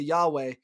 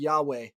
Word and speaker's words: Yahweh: in the Old Testament, it is the Hebrew word Yahweh. Now, we don't know how to pronounce it exactly. That's our best attempt.